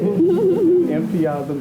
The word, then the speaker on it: Mpiazum: Cynthia Dillard, who is Nana Mansa II of Mpiazum, Ghana. Did I pronounce that? You did. Mpiazum, Ghana in West Africa.